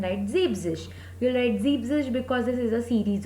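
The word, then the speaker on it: siebzig: And 70 it's Zeebzish. Again that rule. So that's why En is eliminated and the pronunciation becomes Zeebzish and spelling will become S-I-E-B-Z-I-G.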